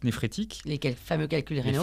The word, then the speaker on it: néphrétique: Néphrétique, comme les nappes phréatiques.